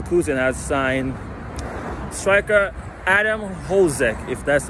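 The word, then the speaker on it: Hložek: the bundesliga next season adam osek that's how his name is pronounced playing for by liverpool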